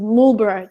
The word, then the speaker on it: Marlborough: in a town called Marlborough, but they would pronounce it Marlborough just for the reason, I don't know, there was no reason because they're British.